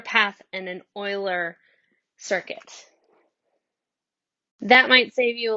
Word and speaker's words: Euler: named after a mathematician it looks like the word Euler but it's actually pronounced like oil ler so it's an Euler path and an Euler circuit that might save